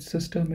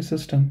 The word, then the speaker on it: System: Okay, how do you say system? It's actually the same word, but pronunciation is System. System.